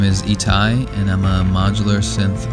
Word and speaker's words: Itai: My name is Itai, and I'm a modular synth artist based in upstate New York. It's pronounced Itai. It's basically my name with some additional letters.